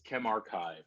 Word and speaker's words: ChemRxiv: me and so yes so it's chem archive and so the story